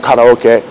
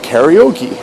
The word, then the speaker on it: karaoke: a Japanese uh well in Japanese it's called karaoke we call it karaoke that's that one